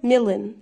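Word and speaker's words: million: معك اللي بتقوللي مليون بالانجلش اسمها مليون لا يا بابا اسمهاش مليون اسمها ميلن ميلن ميلن ميلن مل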